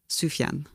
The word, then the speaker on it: Sufjan: know yeah they do hmm okay sorry sufjan sufian sufjan stevens thanks for the pronunciation correction i i have had a feeling